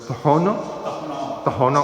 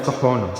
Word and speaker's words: Tohono: esta cultura de los Tohono Oda. Sí, hay que aprender a pronunciar bien el nombre, ¿no? Porque uno dice Tohono, pero no es Tohono. Tohono.